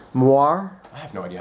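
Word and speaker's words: moiré: it's moire. I have no idea how it's It's pronounced.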